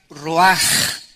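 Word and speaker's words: רוח: Esta palabra vientos es la palabra hebrea roach, que se pronuncia roaj. La ch en el hebreo se pronuncia como J y que es la palabra espíritus.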